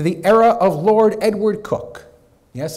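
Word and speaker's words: Coke: era of Lord Edward cook yes it's pronounced cook he came of age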